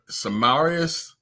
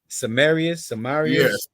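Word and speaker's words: Semiramis: The Statue of Liberty is Samarius. That's how you say her name. Samarius.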